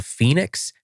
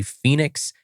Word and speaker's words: Fenix: So, the headlamp that I use is the Fenix and it's spelled f e n i x and it's $99.